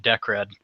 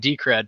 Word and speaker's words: Decred: for the past year I've called it deed with little fun fact but it is in fact decred for anybody that's curious about how to pronounce it and as I was